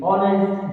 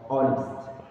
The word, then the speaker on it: honest: these ones provide you as the also the honest boy in this world in these three words